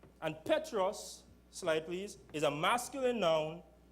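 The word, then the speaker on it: Πέτρος: in the Greek language the word Peter is pronounced Petros and Petros slightlys is a masculine known denoting a small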